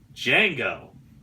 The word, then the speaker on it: Django: scene so they add Django the D is silent so I think that's